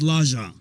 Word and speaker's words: Lejon: Number one thing I have to say, by the way, Lejon is spelled Lejon. And it can be pronounced Lejon. In Lejon in Sweden means lion. So okay, yeah, Lejon. It's pronounced Lejon.